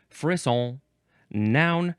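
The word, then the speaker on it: frisson: F r i ss o n pronounced fiss noun from 1777.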